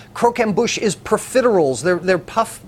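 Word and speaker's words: croquembouche: holiday Suite is something that I couldn't even pronounce until I went to culinary school I didn't even know what it was it's cro amush cro amush is perals they're they're puff p PES um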